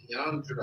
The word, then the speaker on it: Leandra: Leandra. Like Dra.